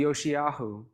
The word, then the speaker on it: Yoshiyahu: is is his Hebrew name is is actually yoshiyahu there's no J in Hebrew so all the names that you see there start with J including Jesus that's not the way that they are pronounced uh in the original language I was super excited